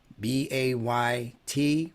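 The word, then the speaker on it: بيت: The AY is called a diphthong and it's a vowel. It's not a consonant. It's not using Y as a consonant.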